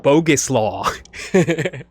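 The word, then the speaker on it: Bogusław: It's pronounced bogus law.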